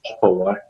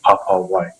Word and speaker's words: Papawai: our non-Māori speaking friends to not shorten it to Papawai, but to really accentuate and pronounce the A, so Papawai.